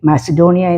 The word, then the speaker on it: Macedonia: അതുപോലെ മക്കദോനിയ ഈസ് MACEDONIA, മാസിഡോണിയ എന്ന് ഇംഗ്ലീഷിൽ വായിക്കും.